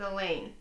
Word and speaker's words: Elaine: asks me about her that's Elaine I reply runs with pain she frowns everybody says that rhymes with pain what does it mean you don't want to mess with Elaine I advised her seriously